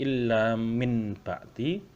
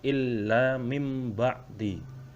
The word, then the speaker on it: illa mim ba'di: Tulisannya illa min ba'di, tetapi cara membacanya illa mim ba'di. Langsung masuk atau menukar. Jadi nunnya dianggap tidak ada.